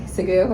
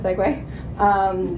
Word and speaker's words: segue: Wild Child 9 fan, where they say Segoo instead of segue, because that's how the word looks like it's spelled. Like, it feels like, you